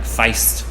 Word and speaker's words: Feest: was Fe est and they actually pronounce it like Feist no I've got it